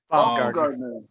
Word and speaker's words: Baumgartner: Baumgartner.